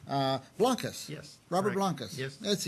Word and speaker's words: Blancas: Robert I hope I don't say your last name wrong uh Blancas yes Robert Blancas yes that's easy enough now